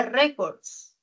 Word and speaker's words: records: Luego tenemos la palabra records, una palabra grave. El acento está en re.